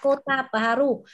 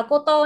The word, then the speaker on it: Kota Baru: Từ này Kota Baru, không nào là Koto nhé các bạn nhé.